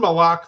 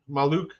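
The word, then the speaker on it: Maluach: the name because I wasn't sure how to pronounce it I did watch him play not necessarily an NBA player Kaman malok though maluk he played on South Sudan and he's committed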